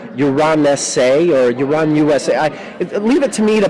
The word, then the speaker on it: UranUSA: pronounce the title of it's basically like uranus with like an a at the end because the last two letters of uranus are us um the book will